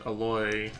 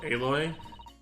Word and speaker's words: Aloy: Oh, they put Aloy? You don't even pronounce it like it sounds like Ahoy.